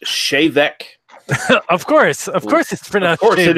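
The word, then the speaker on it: Té Bheag: looks like I know it looks like t-bag but it's actually Gaelic and it's pronounced shave Eck of course of course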